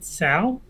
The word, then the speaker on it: Tso: name in australia um i would say sao would be my pronunciation for tsao yes it is sal a lot of people just pronounce it as general sows i will pronounce it as general tsaos man how many places